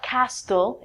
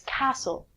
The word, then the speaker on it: castle: a lot of people say castell it's not castell its castle a castle is a